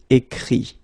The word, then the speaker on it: écrit: Écrire, to write, will become écrit, okay? Remember that phonetically this final T doesn't exist, okay? So the sound will be only this I, écrit, alright?